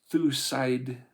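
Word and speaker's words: Thucydides: Well, yeah, if it's a s instead of a c. So thusiditis.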